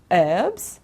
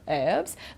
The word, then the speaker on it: herbs: there's a difference okay in american english they say herbs okay don't pronounce the h like teacher robin if she was doing the class now you know she would say herbs but in british english we pronounce it we say herbs okay so you can say both here you can choose right but the one to